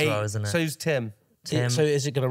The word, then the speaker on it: Tim: Tim rhymes with limb. Yeah, does actually. Dim. Yeah. Shin. Rim. Shin, not quite, but yeah, half rhyme. Quim. Yep, quim it rhymes with.